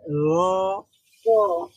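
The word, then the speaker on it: ر: র এর মাখরাজটা রয়ের মাখরাজ হচ্ছে জিহ্বার আগা, উপরের সামনে, মানে উপরের সামনের দুই দাঁতের চারটা চারটা দাঁতের চারটা দাঁতের ইয়ের সাথে লাগবে, গোড়ার মানে সাথে গোড়ার লেগে সাথে।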